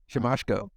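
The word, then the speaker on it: Siemaszko: Casey simichko symmetrico nope he forgot how to pronounce his name shimashko Mr moshko yeah it's actually a real name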